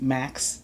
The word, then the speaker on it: MaX: Pronounced Max 1010, written in Roman numerals. So capital M, and then a lowercase a just for the pronunciation, and then a capital X.